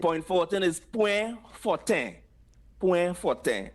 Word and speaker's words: Point Fortin: Point forte. Where? That one sounds pretty straightforward. When you talk about like the kind of the French version, the point forte. Yeah, that's the French and Patois pronunciation.